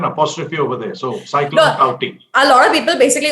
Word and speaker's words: Tauktae: The K, it seems, does not get pronounced. You put an apostrophe over there. So, cyclone Tauktae. A lot of people basically call it TikTok.